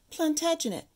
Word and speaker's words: Plantagenet: I looked up that name because I didn't know how to pronounce it, and this is what Google said how to pronounce it. Plantagenet.